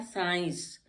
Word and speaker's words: science: S after S आ गया C, तो इसका कोई मतलब नहीं, हमने यहाँ पढ़ा साइंस, C को साइलेंट कर दिया।